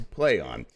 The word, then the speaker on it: Plaion: just yeah just yeah it's a name to play on which is pronounced to play on the german austria media company started in 1994